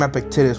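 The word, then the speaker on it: Epictetus: So yes, I do recommend Epictitis. I'm trying to say his name, Epictitus, which I know is the right way, but Aectitus just sounds so much more cooler, bro.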